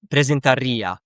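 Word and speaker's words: presentaría: And here the stress is on the ear. Hablaria, presentaria. That would mean I, he, she, it, you formal would present.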